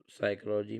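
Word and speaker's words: psychology: साइकोलॉजी different हो जाएगा अब साइकोलॉजी में पी साइलेंट है। रॉन्ग में डब्ल्यू साइलेंट है। नॉक में के साइलेंट है।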